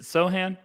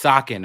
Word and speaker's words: Sochan: Is it Sohan? Bro, it's Socken, all right?